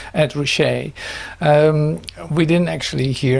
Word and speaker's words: Ed Ruscha: So that's that's an introduction, but we didn't actually hear Ed Rcher, as you say his name, Ed Rcher.